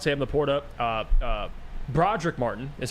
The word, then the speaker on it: Broderick: we talked about Sam the Porta uh uh Broderick Martin is how you pronounce his name yes Broderick Broderick I'm a saint Broderick I've been getting roasted